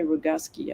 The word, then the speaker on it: Roguski: And James Roguski, I think you say Roguski, I keep saying it wrong. Rogowski is what I thought it was, but I've heard him call himself Roguski, so I think he might know.